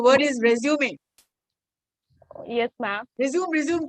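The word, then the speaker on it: résumé: रिज्यूम की जा रही हूँ, बोली जा रही हूँ. तो किसने पढ़ा है? संजना मैम ने पढ़ा है. रिज्यूम. करेक्ट प्रोनाउंसिएशन है रिज्यूमे.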